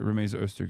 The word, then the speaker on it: Rumeysa Öztürk: I keep saying her name wrong. Okay, no, I did say it right. Rumeysa Öztürk is the person.